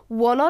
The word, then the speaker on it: wanna: I wanna یا want to، که اینجا دقت کنید که ما wanna را ادغام میکنیم و تلفظ میکنیم wanna، اصلا شکل مکمل از این want to است که ما ادغام میکنیم.